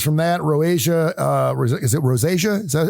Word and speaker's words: rosacea: Is it rosacea?